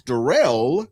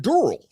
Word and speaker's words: Darrell: The second thing is my name is Darrell. That's what my mom says it. But Siri, Alexa, and the English dictionary calls it Dural. Because phonetically, it's supposed to have two L's.